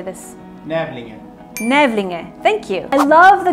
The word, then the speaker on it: Nävlinge: Nävlinge, thank you.